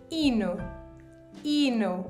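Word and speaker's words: hino: anthem in Portuguese you have to say Ino Ino with an H okay if you want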